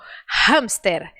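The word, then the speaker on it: hámster: som ela é muda essas palavras como hamster Elas têm esse som aspirado porque na verdade são palavras que vieram de outro idioma do inglês do inglês o h é aspirado por isso que nós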